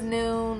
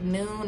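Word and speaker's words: Nuun: ambassador time for is noon y'all I love love love this product so this is noon hey afternoon it's not done it is noon like noon as far as the time of the day I get a lot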